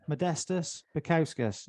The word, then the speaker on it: Modestas Bukauskas: I want to welcome the Baltic gladiator, Modestas Bukauskas. Is that how you say your name? Just so Mate, that was perfectly pronounced.